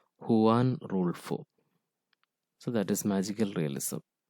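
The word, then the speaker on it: Juan Rulfo: employ this method are gabriel garcia marquis borghus juan rule 4 and others see the pronunciation it's won rule 4 so that is magical realism magical realism is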